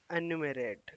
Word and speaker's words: enumerate: प्रो एनो pronunciation pronounce अन्यूमोरेट, एनुमरेट, ठीक है। enumerate, once more, enumerate, एनुमेरेट, ठीक है।